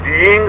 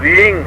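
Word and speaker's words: ह्रीं: इसमें पहला बीज उच्चारण की बात बता रहा हूं, इसमें पहला बीज रींग शब्द से संबोधित है। हो अर्ध हो अपने मुंह में बोला जाएगा, HREENG, रींग, रिंग नहीं है। मैंने HRING नहीं बोला है, REENG बोला है।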